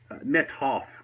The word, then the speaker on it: Methoff: Methoff, like with an H. Methoff. So, yes, Methoff. Not. Okay, sir. So again? You don't hear the H very well. It's kind of blended in with the T.